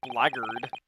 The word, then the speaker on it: blackguard: It's actually pronounced blackguard.